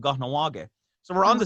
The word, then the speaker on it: Kahnawake: I So don't think I we're can pronounce that, but yeah, it's pretty easy actually. Kahnawake.